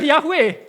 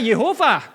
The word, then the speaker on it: Yehova: Tetapi kalau Anda baca huruf Ibraninya, ini bukan Yahweh. Ini Sma, Holam, Kamats. Ini dibaca Yehova. Sfa ini E.